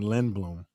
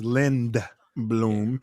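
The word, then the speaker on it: Lindblom: uh we got dr coney um dr joseph coney a lin lind bloom grad i've been pronouncing it wrong so if i've been saying lin bloom yeah but yeah it's lend bloom but i thought it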